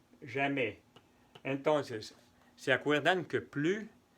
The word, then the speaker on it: plus: Non, je ne vais plus jamais. Entonces, ¿se acuerdan que plus se escribe plus? Pero no decimos plus, se dice plus porque es la negación.